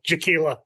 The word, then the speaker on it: Jackiella: My wife always says her name is pronounced like tequila, Jaquila with tequila.